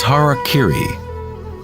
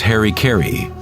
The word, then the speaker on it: harakiri: one form of ritual suicide or seppuku was harakiri was often mispronounced as Harry Caray it means to impale one's Hara thereby cutting